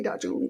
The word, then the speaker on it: Dajun: And I do believe that's how it's pronounced. I heard him correcting someone at Heroes. So the next time I walked up to him, I was like, "Hey, Dajun, what's up?"